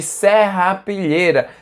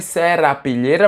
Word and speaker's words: serrapilheira: É por causa da camada superficial do solo, que é de serrapilheira. Se escreve serrapilheira, mas se fala serrapilheira, que é o horizonte ó, que é a camada de humus, belezinha?